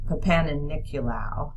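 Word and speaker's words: Papanicolaou: Papaniculau is how you say it.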